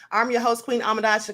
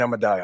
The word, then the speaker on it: Ahmadiyyah: Thanks for having me, Queen Ahmadiyyah. I said it right? Queen Ahmadiyyah?